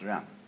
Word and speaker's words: jen: In Confucius philosophy, the fundamental virtue of a human being is called Ren, spelled Jen for reasons best known to Chinese scholars. I don't know what they are, but it's pronounced Ren.